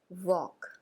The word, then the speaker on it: walk: वॉक की spelling है WALK, जिसमें L साइलेंट होता है, यानी कि जब इस स्पेलिंग को प्रोनाउंशिएट किया जाता है तो L का उच्चारण नहीं होता है। इसे कैसे रीड करते हैं? वॉक, वॉक।